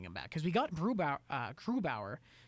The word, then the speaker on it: Grubauer: I think our backup, I can't ever really pronounce his name. What's his name? Varlamov? Grubauer. No, not Varley. Philip Grubauer.